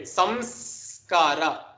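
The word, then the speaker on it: saṃskāra: It becomes sanskara. I mean, samskara. Sanskara. Right? No one pronounces it like that, but just for emphasis in the beginning stage, let me just put that extra emphasis.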